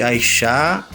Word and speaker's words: Aishá: E lembrando que Aixá se escreve A-I-S-H-A, com acento no A, né?